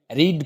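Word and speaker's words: read: रीड पढ़ना, रीड रेड रेड, spelling same रहेगी but pronunciation अलग होगा।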